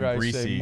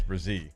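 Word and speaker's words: Bresee: Well, he was saying Brian Breesy like the national guys when it's Brazil.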